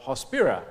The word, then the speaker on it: Hospira: buyer Services uh a holy on subsidiary of hospira Inc am I pronouncing it properly hosp yes a global company